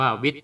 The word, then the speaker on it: วิท: มา จาก ธาตุ วิท เขียน เป็น ว แหวน สระอิ ท ทหาร แล้ว ก็ มี พินทุ อยู่ ที่ ใต้ ทธ ทหาร นะ ครับ อ่าน ว่า วิท แปล ว่า รู้ หมาย